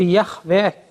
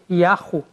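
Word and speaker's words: Yahweh: Por exemplo, Yahvé, que muitos adotam, é uma construção que ficou comum a partir do século XVIII para frente. Mas, hoje em dia, há vários estudiosos que acham que talvez houvesse outras pronúncias possíveis, como, por exemplo, Yahu, por exemplo, Ierro, por exemplo. Parece que, hoje em dia, está mais para aceitar essas duas pronúncias, mais Yahu, possivelmente.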